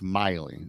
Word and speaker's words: Maile: So when I seen this, I said, "Oh, Tim Maile," and then it's Miley.